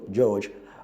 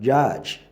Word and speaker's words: judge: But the proper rendition of that word is not George, but judge. He's a judge of the high courts, not he's a judge of the high courts. So judge and not George.